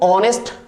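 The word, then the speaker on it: honest: सो नेक्स्ट rule number is your 3, so English words में ओ से पहले एच आने पर एच हो जाता है साइलेंट, सो ऑनेस्ट, ओ से पहले एच आ रहा है, दैट्स व्हाई सभी में ओ से पहले एच आ रहा है, ओ से पहले एच आ रहा है, दैट्स व्हाई क्या हो जाएगा, एच हो जाएगा साइलेंट, तो आप इसको पढ़ते हैं ऑनेस्ट, आवर, ऑनर, राइट।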